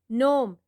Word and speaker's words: Gnome: Gnome, G is silent.